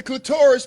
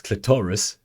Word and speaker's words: clitoris: And the clitoris becomes hard. Emphasis on syllables. Clitoris. Clitoris.